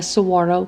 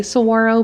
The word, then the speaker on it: saguaro: And I always feel weird when I say saguaro because there's a G in the word. So my mind just thinks you need to say saguaro, but I read that the G is silent.